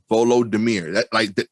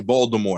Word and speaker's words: Volodymyr: I think it's Volodymyr. Volodymyr. It is dope. Volodymyr. Okay, I didn't want to say like Voldemort.